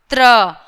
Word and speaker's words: त्र: त्र कैसे होता है? त प्लस र, त्र, त्र।